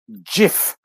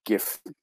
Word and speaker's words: GIF: supposed to be pronounced jif you know with a with a soft g but we of course all call it gif moving on to our